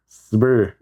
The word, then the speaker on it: SBIR: that's a Mac okay sbir saber cber that is spelled out SB would be so terrible if you had to say that all the time SBI no it's cber cber okay yeah uh small